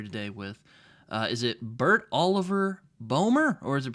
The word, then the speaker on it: Boehmer: The OE is a bit weird as a phoneme in the Anglo-Saxon world, but no, all good.